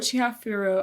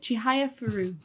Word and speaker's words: Chihayafuru: I didn't talk much about Chihafuru. I really like Chihafuru. Is that how you say it? Chihayafuru.